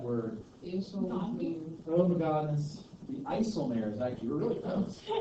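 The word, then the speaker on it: IJsselmeer: The Isselmare is actually really close. Isselmare, that's how you pronounce that.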